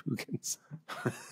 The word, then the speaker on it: Boogens: Everything we say after this depends on the fact that it's pronounced The Boogans.